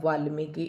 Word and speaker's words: वाल्मीकि: की छोटा आएगा वाल्मीकि इस तरीके से आपको दो बार लिखकर इसका प्रयास करें पर आप अभ्यास करें।